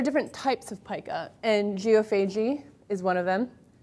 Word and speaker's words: geophagy: So there are different types of pica, and geophagy is one of them. Also to be pronounced as geophagy, if you are Canadians, tend to pronounce it that way.